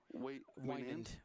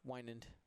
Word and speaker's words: Wynand: Because how'd you pronounce his name? Wynand. Wynand.